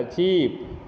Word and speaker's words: cheap: हाँ, वो लंबा खिंचाएगा, चीप, दोनों का स्पेलिंग ये CHIP चिप, और ये वाला CHEAP नहीं, EEP नहीं, CHEAP चिप, सस्ता वाला चिप।